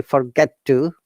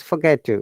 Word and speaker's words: forget to: matter of practice, honestly, because all of our lives we have pronounced, hey, forget to, but no, it's forget to, yeah, because this T, we called it assimilation, that just dropped one of the T's.